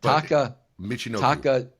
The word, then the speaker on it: Taka Michinoku: Taka Michinoku.